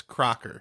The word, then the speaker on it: Crocker: like a cracker yeah cuz that's crazy it's cracker no no it's not it's cracker its Crocker its Crocker like Betty oh my god rhymes